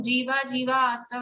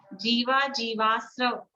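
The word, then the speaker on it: जीवाजीवास्रव: उच्चारण अशुद्ध है, जीवा जीवा आश्रव नहीं है, जीवा जीवाश्रव, जीवा जीवा जीवा आश्रव तो दो बार जीवाश्रव, आ नहीं है।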